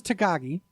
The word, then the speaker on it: Takagi: about that okada versus takagi that's how you say it i've been bullshitting his name for a week really i've been like